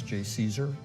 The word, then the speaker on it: JCESR: I'm director of the Joint Center for Energy Storage Research, which we pronounce JCESR, at Argonne National Laboratory.